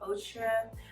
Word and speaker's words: Outre: I'm going to be putting on this Outre, that's how you say it, Outre Perfect Hairline wig, and it doesn't look like this, but this is what it looks like.